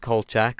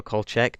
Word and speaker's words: Kolchak: is about a reporter called Kolchak, or Kolchak, depending on how the characters in the show pronounce the name.